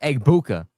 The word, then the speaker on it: Egbuka: If you look at Emeka Egbuka's name, it really is sounded how it's spelled, Egbuka.